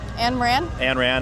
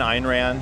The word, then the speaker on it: Ayn Rand: Ayn Rand? Ayn Rand, I guess is how you really say her name.